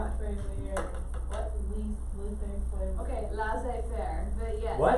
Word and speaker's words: laissez-faire: So lazy fairy.